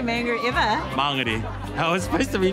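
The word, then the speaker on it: Māngere: nice oh yeah i pronounce it why google maps lady she says monger manganese no i don't say mango ever mangeri i was supposed to be friends i guess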